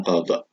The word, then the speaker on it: qadha: Yang kedua adalah puasa qadha, itu bacanya qadha.